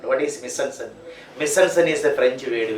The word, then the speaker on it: mise-en-scène: Mise-en-scène. Mise-en-scène. Mise-en-scène. It is a French word. That is why it is pronounced like this. Mise-en-scène.